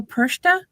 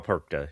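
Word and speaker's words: Perchta: I'm the Fra Persa. Fra Perka. Yeah. Oh, Perka. Okay. I thought it was Perka, not Persa. That's what I've been told as how it's pronounced. Yes.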